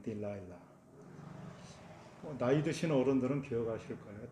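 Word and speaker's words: Delilah: 우리 성경에는 데릴라라고 되어 있는데 영어 발음을 하자면 딜라일라.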